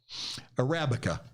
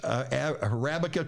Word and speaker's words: Arabica: Arabica. That's Arabica.